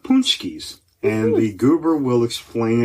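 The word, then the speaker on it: pączki: But punchkis, which is funny because if you look at it, it does not look like it should be pronounced that way. But since coming to Chicago, I have learned it is pronounced punchkis. Punchkis are a traditional Polish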